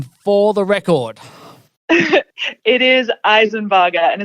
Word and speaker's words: Isenbarger: spell my name correctly so how are we pronouncing your name for the record it is eisenburger and it's a bit of adjustment from me